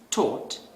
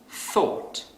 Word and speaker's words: thought: So a non-native speaker might pronounce this word as taught instead of thought.